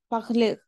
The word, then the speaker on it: parles: En el presente vamos a poner la S. Esto es el presente normal, ¿no? Tu parles, il parle, ¿n'est-ce pas? Pero vamos a pronunciar siempre parle, ¿d'accord?